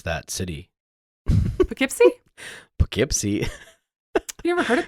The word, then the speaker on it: Poughkeepsie: Let's see, they've got Kansas City, Missouri, and Poughkeepsie, New York. But they're in like 39 markets now all over the country. They're exploding. Very cool. I'm really impressed that you could pronounce that city. Poughkeepsie?